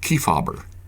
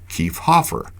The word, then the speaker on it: Kiefhaber: Obviously, when Haber was the second syllable of a name, the H often went silent. Try it yourself. Say Kiefhaber. Kiefhaber, Kiefhaber, Kiefhaber.